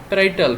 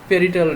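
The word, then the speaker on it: parietal: তো এটাকে মাথায় অংশটাকে আমরা একটা নামই আছে এখানে, এটাকে বলা হয় প্যারাইটাল রিজন। পেরিটাল রিজনও বলতে পারেন আপনারা, উচ্চারণগত বিভিন্ন দিক থাকতে পারে।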